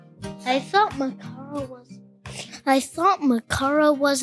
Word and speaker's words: Makara: So, Macara, that's how you pronounce it.